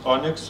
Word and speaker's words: ONNX: is this standard ONNX, Open Neural Network Exchange, pronounced ONNX if I am correct.